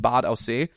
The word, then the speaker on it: Bad Aussee: It's called Bad Aussee. Funny enough, if you pronounce it in English, it's called Bad Aussie. Nice. Which is basically you. A Bad Aussie. It's literally spelled like that.